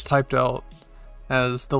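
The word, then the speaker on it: お: Which remember, this one's a little confusing, because in Romaji, it's typed out as the letter I. But it's pronounced like the letter E.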